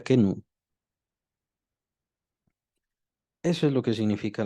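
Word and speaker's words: kenoo: Si la quieren apuntar, es la palabra kenu, pero es con K y se escribe con doble O al final, o sea, se escribe que no O. Así se escribe, pero se pronuncia kenu.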